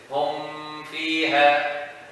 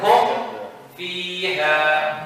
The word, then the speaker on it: هم فيها: A lot of people read it like this. Hum fiha. This is wrong. How would we? Huh? Yes. Hum fiha. Huh? It sounds like a shadda when you home. And this is because of they doing the hidden part. There's no hiding here.